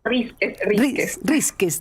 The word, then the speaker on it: Rísquez: ¿O cómo se pronuncia bien tu apellido? Rísquez. Estoy con el acento con que sí se lo pongo y no se lo pongo, ¿verdad? Rísquez. Rísquez. Exactamente, Rona, gracias.